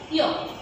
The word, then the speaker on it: yolk: ওয়াই দিয়ে আমাদের প্রথম শব্দ হচ্ছে ইয়ক। YOLK, ইয়ক। শিক্ষার্থীরা, এখানে এল এর উচ্চারণটা হবে না, কিন্তু আমাদেরকে লিখতে হবে।